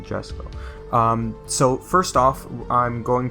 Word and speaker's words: Jesko: name, and the Koenigsegg Jesko. If I were Swedish, then I would say it correctly, but it's the Jesko.